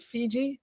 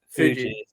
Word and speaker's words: Fuji: Fiji. Mount Fiji. Fuji.